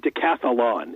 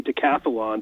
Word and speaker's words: decathlon: or decathlon I think Decathlon it's easier to say to catalan than decathlon but that comes from the greek and it's Athlon is the contest and then deca is ten but trying to say